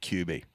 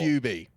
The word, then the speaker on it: QB: How do you say QB. it? QB. Like a cube, as opposed to QB.